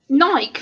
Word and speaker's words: Nike: Like Nike for the same thing. Like people say, oh, it's Nike. No, Nike.